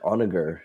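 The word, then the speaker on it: Honoghr: let's keep it going I like onager where you don't pronounce the h kind of like honor oh maybe yeah oh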